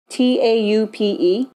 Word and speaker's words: taupe: How do you spell it? T-A-U-P-E. It's taupe. Taupe, okay. Now, Anastasia describes this shade